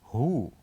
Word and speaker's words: who: the word who oh so what is the silent letter of this word who well the silent letter of this word is the letter W letter w and let's move